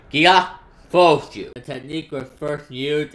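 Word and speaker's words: ギアフォース: The Japanese pronunciation is Gia Fosu.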